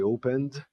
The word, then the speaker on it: opened: e never ever nunca I opened não tem sílaba aqui não tem vogal é do N pro D. Do mesmo jeito que aqui é um P pro T. O E não tem som.